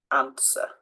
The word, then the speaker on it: answer: hear it guide guitar and the W sword answer okay so it's just